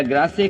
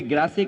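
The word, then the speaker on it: Grasse: France में perfume capital अगर है कोई, तो कोई ग्रासे कहता है, कोई ग्रास कहता है। वो एक प्रोनाउंसिएशन है कि इंग्लिश या फ्रेंच जो भी कुछ है।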